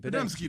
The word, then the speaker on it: Podziemski: He offers me Jabari Smith and Klay Thompson for Podziemski. I can't say his name. Podziemski? Podman. Podemski. Podemski, there we go.